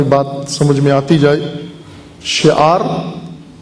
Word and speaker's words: شعار: شعار تلفظ پہلے سیکھ لیں، شین، عین، الف، رے، اس کو کیسے پڑھیں گے؟ شعار حسینی، شین، عین، الف اور رے.